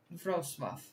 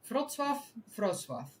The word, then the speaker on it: Wrocław: How to pronounce? Because I don't want to mess that up. Wrocław. Okay. So, Wrocław.